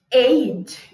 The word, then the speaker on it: ate: Ate. Então, a pronúncia é ate. Ate. Tipo 8.